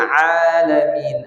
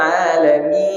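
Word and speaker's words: العالمين: Ini sering kita bacanya alamin, masuk hidung. Mestinya alamin. Nanti kalau di rumah coba lah kan. Kata Ustaz alamin, tak boleh masuk hidung.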